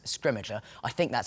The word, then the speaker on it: Scrimgeour: We have kind of eventually reached consensus on how to say his name, and we're going with Scrimmager.